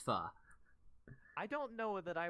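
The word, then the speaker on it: phở: it's a food it's it's spelled pH oh but it's pronounced fuh I don't know that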